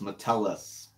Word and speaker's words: Metellus: So I mean, I've heard people say it Metellus. It's not Metellus. The emphasis. They put the emphasis on the wrong syllable. It's Metellus.